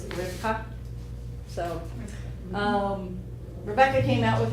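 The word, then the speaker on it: רבקה: that name is actually, bees are not bees in Hebrew. They're actually sounds like V.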